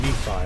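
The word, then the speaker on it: Nephi: Or me-Phi, I should say. I think that's the actual proper pronunciation, because I think that's a Mormon name.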